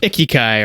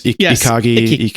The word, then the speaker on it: ikigai: It's, there's a Japanese word, but it's about the intersection of ikigai or whatever. Yes. Ikigai. Yeah. I forget how you pronounce it.